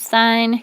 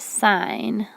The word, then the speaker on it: sine: Let's make sure we can pronounce sine, cosine, and tangent correctly. When you see the abbreviation for sine, S-I-N, it's not sin. You still pronounce it sine, like a road sign.